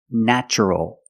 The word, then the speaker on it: natural: adjective the description is natural the first syllable is pronounced with a short a like black cat a a NN natural natural is the adjective